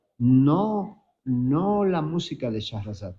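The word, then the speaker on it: Sherezade: ¿Saben que Rimski Kosakov hizo esta obra musical e Sharazad? Sheresad muchas veces se pronuncia por influencia del francés, ¿no?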